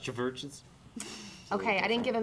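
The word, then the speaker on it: CHVRCHES: It's spelled with a V, though, so I think it's pronounced churches.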